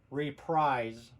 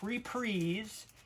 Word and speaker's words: Reprise: about this yeah but this was on reprise records not reprise everybody I ever knew in my life called this reprise in fact phonetically if you read it it says reap rise rise I don't see anywhere where it says 'is there there's no there's no e in it there's no e sound and the spelling of